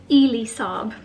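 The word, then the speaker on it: Elie Saab: Someone actually left me a comment saying it's Ely Saab. Didn't know that that's how you pronounce it, from their collection.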